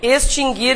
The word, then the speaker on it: extinguir: vimos a acentuação ã esse verbo se pronuncia assim mesmo né extinguir por que que eu estou falando sobre isso porque várias pessoas dizem extinguir É e tem outro que sofre desse mal isso não tem nada a ver com com reforma ortográfica né gente esses dois verbos nunca tiveram trema porque o u nunca foi pronunciado mas Há muitas pessoas